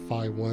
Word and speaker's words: Phi: 2 signal outputs, Phi1 and Phi2, Phi the Greek letter, and the letter in the Greek alphabet. That's spelled PHI, kind of like phase.